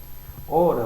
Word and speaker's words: hora: sua pronúncia da palavra se você falar por exemplo hora você vai perceber que a sua pronúncia hora ela não ou a letra h ela não aparece só vai aparecer na